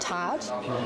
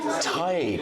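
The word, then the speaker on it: Tadhg: Is it not just tad? It is ty. Ty. Ty. A beautiful name, right? T A D H. And why is it like that? Well, the D H can function as a Y.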